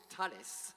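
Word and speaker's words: Thales: is Benjamin Longos show from Talis you have to pronounce it with a French accent sorry so what do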